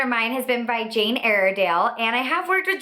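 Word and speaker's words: Jane Iredale: I have worked with Jane aale in the past and I know I say that name wrong I always get comments that are saying that I'm saying it wrong but it's Jane aridell and this is a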